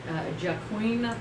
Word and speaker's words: Joaquin: And singer Brad Paisley is 43, and actor Joaquin Phoenix. Oh my God. Phoenix. Oh my God. You've got to spell it. That's twice you did that. Turns 41. If you just spell it W-A-K-E-E-N, she'll.